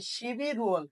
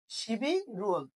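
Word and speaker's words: 십일월: এটার সাথে ওয়ালটা যুক্ত করে দাও, তাহলে শিবি, তাহলে বিয়োগটা উপরে চলে যাচ্ছে, রিউলটা উপরে চলে যাচ্ছে, তাহলে শিবি রুয়াল কি উচ্চারণ হবে? শিবি রুয়াল, মানে হচ্ছে কি নভেম্বর মাস।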